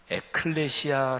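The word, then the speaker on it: ἐκκλησία: 않습니다 교회를 신약성경 워너 헬라어로 발음하면 에클레시아 라고 발음 하는데요 하나님 나라는 바실 내의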